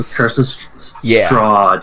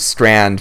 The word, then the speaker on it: Strahd: A Curse of Strahd, yes. Yeah, I always said a Curse of Strand for some reason.